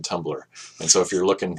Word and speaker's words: Tumblr: pronounced uh or it's it's spelled tuu MBL LR there's no e in Tumblr and so if you're